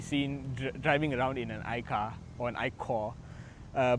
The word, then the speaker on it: iCaur: So to get around it, what Cherry has done is that they've changed the spelling of the word, but they've not changed the way it's pronounced.